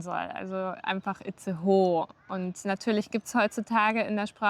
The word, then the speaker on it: Itzehoe: Hier haben wir es nämlich mit einem Dehnungs-E zu tun am Ende von dem Wort. Also sagt man Itzehoe, weil das, Ahoi, aho. weil das E am Ende einfach das O lang machen soll.